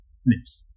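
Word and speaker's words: SNP: single nucleotide polymorphism is there which is simply pronounced as snips.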